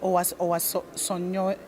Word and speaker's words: Owasanoye: This is the problem with Africa, How do I pronounce your name? Owasanoye.